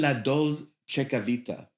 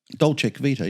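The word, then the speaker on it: La Dolce Vita: Uh, your first show was, forgive me if I don't pronounce this correctly, live in La Dolita. Dolcevita.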